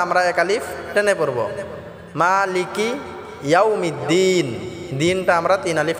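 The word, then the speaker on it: مَالِكِ: মালিকি ইয়াউমিদ্দিন। মালিকি, মাটা আমরা এক আলিফ টেনে পড়ব। মালিকি ইয়াউমিদ্দিন, দিনটা আমরা তিন আলিফ টেনে পড়ব। অনেকে আছে মালিকি কি টান করে, এটা টান হবে না। মালিকি ইয়াউমিদ্দিন।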